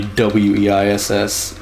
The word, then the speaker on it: Weiss: That'll be Weiss, German pronunciation.